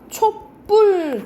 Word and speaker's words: 촛불: 잠깐 설명해주면 우리가 초 플러스 불을 어떻게 발음하니? 우리가 촛불 뒤에 된 소리가 나죠.